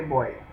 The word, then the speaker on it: voy: Now we have already discussed that V is pronounced as B in Spanish. So that is why I'm not going to say voy, I'm going to say boy.